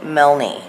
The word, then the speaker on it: Milne: Now, secondly, the live I did the other night when I brought up that Cody Milne. People say the E is silent. I have no idea.